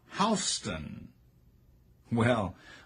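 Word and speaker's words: Houstoun: of a Georgia Governor is pronounced in Georgia like how well only after the speech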